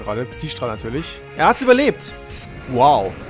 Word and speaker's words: Psi-Strahl: Voll scheiße ausgesprochen gerade. Psi-Strahl natürlich.